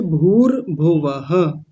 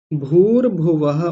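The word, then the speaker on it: भूर्भुवः: भव कह के चले जाते हैं। विसर्ग को छोड़ देते हैं। ऐसा नहीं करना।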